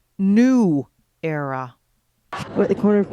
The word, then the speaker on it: Nuera: only now realize that the proper pronunciation of the name is new era i'm at the corner